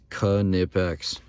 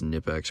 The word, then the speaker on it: Knipex: everybody says this wrong I don't care it's kanipex that's why they literally came out with a shirt pronouncing it it shows you the pronunciation on